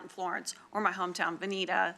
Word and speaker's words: Veneta: They're out in Florence, or my hometown, Veneta. It's actually pronounced Veneta.